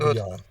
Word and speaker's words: Barbillon: Yes, how do you pronounce his name? Barbillon? Barbillon? I don't want to mispronounce Yes, you're pretty it. good. You're pretty good. Barbillon.